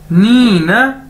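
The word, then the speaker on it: 你呢: उसके बाद है जी हमारे पास नी न, नी न, ये इसको ऐसे प्रोनाउंस करना है, नी न, इसका मतलब है एंड यू और आप, ठीक है।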